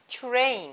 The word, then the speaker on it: train: 오케이, train 할 때 대신에 발음 할 때 트레인보다는 train. There you go. 자 지금 희영 씨가 트레인이 아니라 추 발음을 했던 거예요.